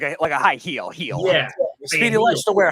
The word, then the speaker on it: Gil: Gil, and that's not how you say it. I don't know how. I know I've heard him say heel. Huh? Is it? It's not Gil. Isn't that Gil or something like that? Heel.